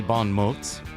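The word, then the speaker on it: bon mots: You'll hear her voice from time to time chiming in with Witty Bon Moes.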